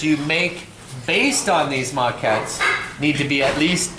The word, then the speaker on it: maquette: actual vocabulary term uh maquette m-a-q-u-e-t-t-e with a little french accent on the end it's a french word that means a model